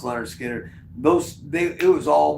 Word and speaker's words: Lynyrd Skynyrd: for that first record uh pronounced Leonard Skinner those they it was